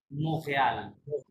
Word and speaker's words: Montréal: এটা হবে কি মোখেয়াল, বলেন মোখেয়াল। Montréal. টিটা উচ্চারণ হবে না মুসলিম, ঠিক আছে? টি সাইলেন্ট, মাঝে টিটা সাইলেন্ট, মোখেয়াল।